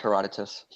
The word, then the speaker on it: Herodotus: So the first one okay um Herod is it Herodotus? I'm going to mispronounce some stuff here too. So that's correct. Heroditus.